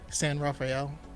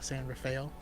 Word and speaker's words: San Rafael: is further up north is um San Rafael but people call saying raail I mean they surely